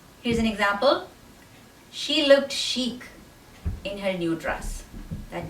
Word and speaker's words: chic: you pronounce this word the ch makes a sh sound not a ch sound it's a sh and the last c makes a k sound chic the next word is